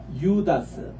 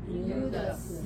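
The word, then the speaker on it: Ἰούδας: 들어가면 유 발음으로 변해요 요거는 오 발음 긴 발음인데 요게 장음으로 이타가 들어가면 요로 바뀝니다 그래서 우리 따라합시다 유다스 유다스 유다스 유다스 유다 주스 이할 때에 유다로 일으켰습니다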